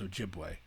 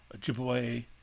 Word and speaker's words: Ojibwe: indians their official name chippewa is the same thing as ojibwe uh it was just an american mispronounced pronunciation ojibwe that's how that happened anyway um minnesota argued